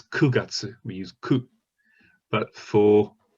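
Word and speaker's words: 九月: and then and then for nine we have and q if it's september it's kugatsu we use ku but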